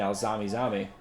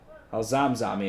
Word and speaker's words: Al-Zamzami: No, excuse me, that's 19, Al-Zami. Al-Zamzami, excuse me. Been mispronouncing that for this game.